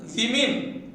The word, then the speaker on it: women: You see, woman, women, not woman, woman. As we are saying as woman, the plural should be pronounced as women.